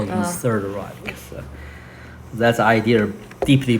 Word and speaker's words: Reich: Reich. Reich. Yeah. The German word for kingdom to refer to this German kingdom. Yeah. So that's Hitler's the Third Reich. They call it the Third Reich.